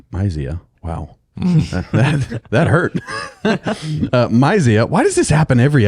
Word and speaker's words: Mysia: And when they came to Mysia, Mysia, wow. that hurt. Mysia. Why does this happen every episode? I mispronounce that word.